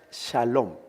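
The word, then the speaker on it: שלום: pantalla está con otro color esa palabra se pronuncia salón villalón significa paz miren cuando los judíos bueno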